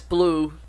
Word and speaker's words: Bolu: Yes, Blue, but it's spelled B-O-L-U, not B-O-L-O.